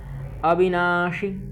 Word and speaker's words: अविनाशी: अगला श्लोक देखते हैं अविनाशी अविनाशी ठीक छोटी ई छोटी ई का उच्चारण करेंगे अविनाशी तु अविनाशी तु